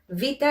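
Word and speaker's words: βήτα: is not the case vita is actually much more similar to the letter v in latin so have this letter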